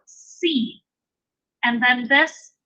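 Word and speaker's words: שׂין: That is going to be pronounced exactly like our S. So Sin.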